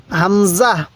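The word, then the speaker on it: همزة: এই হরফটির নাম কি এই হরফটির নাম হলো হামজাহ হামজাহ আমার সাথে বলুন হামজাহ এরপরে বলবেন এই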